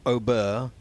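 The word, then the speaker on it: Åberg: like it said, and he pronounced it in his own country something like Aubert, but then he said, call me Aberg, it's simpler. And that is very simple, isn't it, from Jorge Campillo.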